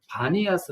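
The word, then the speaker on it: Banias: 아스 섬을 알아 사람들은 판에 라스를 발음을 잘 못해서 반이 하스 라고 불렀다고 합니다 즉 이파니와 쓰다 는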